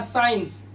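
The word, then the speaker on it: science: देखो कह रहा है एस के बाद आया सी हमेशा साइलेंट होगा, तो एस के बाद आया सी यहां पर तो ये वर्ड बना साइंस। क्या बना? साइंस मतलब विज्ञान।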